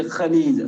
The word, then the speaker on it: خليج: Okay, خليج خاص ஒன்று வரும். நம்ம தமிழ்ல ப்ரொனவுன்ஸ் பண்ண அந்த கலீஜ் அந்த மாதிரி கிடையாது, خاص ஒன்று வரும்.